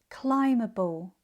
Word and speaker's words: climbable: climbing climber thumbs lamming, numbing dumber plumbing, plumber climbable combable These two final examples, you'll notice we add the ending able. However, the B in the base form remains silent.